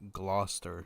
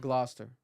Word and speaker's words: Gloucester: to jail bro yeah that's crazy apparently it's pronounced Gloucester Gloucester you got it right oh we got the